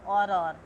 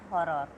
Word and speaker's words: horror: Horror, I am saying horror, not horror. H is silent in Spanish.